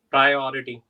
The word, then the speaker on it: priority: So the first one was priority. Can you say the word Right. again? Priority.